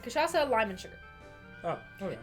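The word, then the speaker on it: cachaça: heard that I have I think it has kashasa in it right or I feel like I'm sorry yes kashasa who's saying it right are we saying it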